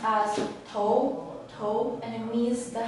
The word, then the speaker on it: 头: this hair is pronounced as toe toe and it means the head or the